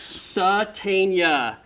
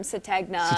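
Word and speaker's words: Sategna: Satania. There we go. I remember. G is silent. I remember when I first heard that name, everyone, even the coaches were calling him Satna and everyone was like,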